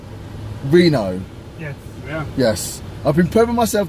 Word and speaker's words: Reno: Because we're heading to Rio! Reno, I said it wrong.